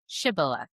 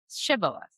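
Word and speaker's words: Shibboleth: Then they would tell him to say, "Shibilah." If he was from Ephereim, he would say Shibath because the people from Ephraim cannot pronounce the word correctly.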